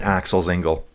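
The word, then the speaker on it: Axel Zingle: It is Axel Zingel.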